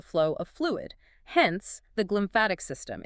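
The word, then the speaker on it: glymphatic: The glimpmphatic system. Exactly. The glimpmphatic system, which is spelled G L Y M P H A T I C for anyone looking it up.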